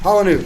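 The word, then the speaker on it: Palahniuk: I don't even know how how I never knew how you pronounced it. I'm actually using it to raise my mic. Paul. Yeah, Palanuke. Chuck Palanuke.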